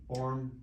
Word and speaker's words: Borem: It rhymes with forum, but it's spelled with an E, Borem.